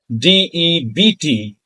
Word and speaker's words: debt: It is spelled as DEBT, but it is pronounced as debt because B is silent, just like we discussed the case of the word subtle, where B was silent.